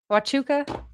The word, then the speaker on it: Huachuca: Huachuca? Watuka?